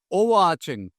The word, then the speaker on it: overarching: or influences many things and please mind the pronunciation it is overarching for example you can say your idea aligns